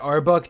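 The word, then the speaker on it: RBUK: name to RB UK even though they pronounce it our book to make it easier to say I'm just gonna keep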